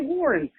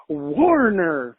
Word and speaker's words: Warner: He kept mispronouncing his name. He kept saying, "Man, I was in the show, Warren. Hey, Warren."